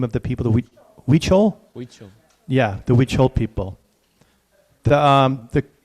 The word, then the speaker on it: Huichol: Huichol.